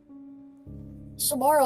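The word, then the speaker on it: Somara: S O M A R A. Thank you, Samara. Like the ring.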